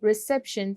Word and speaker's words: reception: First is reception. तो इसमें आप कौन सा syllable stress करोगे? Reception. जैसे कि आपको बोलने से पता चल रहा है, it will be second syllable. So we'll go for second.